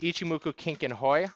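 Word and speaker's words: Ichimoku Kinko Hyo: about the ichimoku cloud officially pronounced ichimoku Kink and Hoy otherwise known as a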